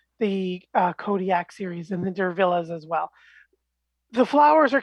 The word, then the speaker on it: Diervilla: Yeah, trying to pronounce Diervilla, like Cruella.